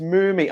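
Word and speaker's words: Mumy: Mummy is apparently pronounced Moomy.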